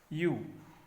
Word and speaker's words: ewe: इसको देखो ध्यान से बेटा, यू, यानी इसको जो प्रोनाउंसिएशन है इसका क्या क्या है? यू, ठीक है, EWEU, यानी